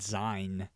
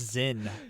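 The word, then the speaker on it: Zyn: yeah I was embarrassing I I pronounced it Z what a loser like you're Z he's like it's Zen yeah Z what's your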